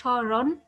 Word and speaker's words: স্মরণ: আর আমরা কি বলছি, যে শুরুতে ম থাকলে তার পরিবর্তে কি হবে, যে একটু নাকে উচ্চারণ হবে।